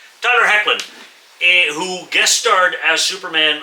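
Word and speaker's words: Hoechlin: I always thought it was Tyler Hochlin. Apparently, it's pronounced Heckan, even though it's spelled H O E C H L I N. Tyler Heckan, who guest starred as Superman on the Supergirl series.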